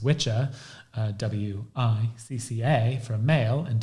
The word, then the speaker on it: Wicca: is that witch and Wicca which is actually pronounced witch ax WI CCA from male and WI CC female